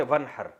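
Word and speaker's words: وَانْحَرْ: हैं अरबी में नहर तो वन असल में था न हर पढ़ा जाता है मिलाकर वन हर तो अलिफ साइलेंट हो जाता है वन हर फसली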